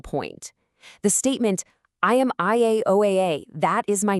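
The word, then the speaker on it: Yahweh: The 4 letters come together to form the name YAH-WEH, pronounced YAH-WEH, a name made of 4 distinct vowel sounds, just like Josephus said.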